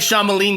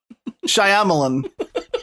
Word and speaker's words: Shyamalan: There's a Y in there. What's it doing there? You're right. There is a rogue Y in there. It's being real quiet.